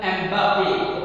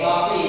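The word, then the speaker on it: Mbappé: It is Kylian Mbappe. Okay, Mbappe is the thing and becomes silent.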